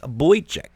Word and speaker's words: Boychuk: And that was Shadows of Doubt by Midnight Fury featuring Alex Boychuk.